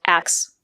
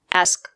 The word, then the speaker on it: ask: word is not pronounced X there is no letter X at the end of the word the two letters S and K a make the sound not the word is pronounced es not X let's listen to some